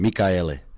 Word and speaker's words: Mikaele: Coach, let's start with the pronunciation of the last name. Mikaele is my last name, Mikaele.